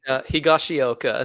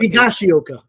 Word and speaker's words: Higashioka: Higashioka. So Higashioka.